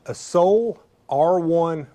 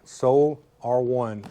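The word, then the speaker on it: Sole R1: Uh, this is a Soul R1 bike rack. That's spelled S O L E, the letter R1, the numeral one. Soul R1 bike rack.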